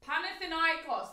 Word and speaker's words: Panathinaikos: smashed it come on CH panthan iOS there you go that's how you say it I just copied the